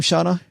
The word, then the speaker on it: Shauna: Man, Shauna, do you pronounce her name Shauna? Yep, Shauna do.